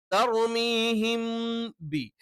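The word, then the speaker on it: تَرْمِيهِمْ بِ: അതുകൊണ്ട് തർമീഹിം ബി തർമീഹിം ബി. അപ്പൊ തർമീഹിം എന്ന് കറക്റ്റ് പറഞ്ഞിട്ട് ബി എന്ന് പറയണം.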